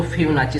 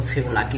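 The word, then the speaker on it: Fibonacci: उसको फिबोनाची series कहते हैं। बहुत लोग उसको फिबोनाकी भी बोलते हैं। वो डिफरेंट अपना जो है कि प्रोनाउंसिएशन करने का तरीका है। हम लोग इसे फिबोनाची सीरीज बोलेंगे।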